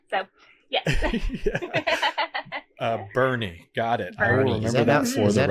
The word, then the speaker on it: Boerne: country and they're like how do you say the name I'm like it's Bernie so there's even a